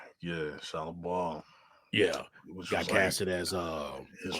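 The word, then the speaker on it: Shalla-Bal: Yeah, Shallow Ball.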